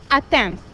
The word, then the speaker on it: attempts: It is an effect that attempts. The B is silent.